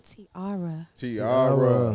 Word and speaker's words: Tiarra: Good, you gotta say it right, honey, Tiarra.